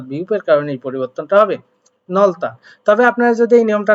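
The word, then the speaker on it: 넓다: একটা কোশ্চেন দেখতে পাচ্ছি সেখানে কি বলা হয়েছে নলতা এটা উচ্চারণ হবে নলতা অর্থাৎ প্রশস্ত উচ্চারণটা কেমন করে হলো মূলত আপনারা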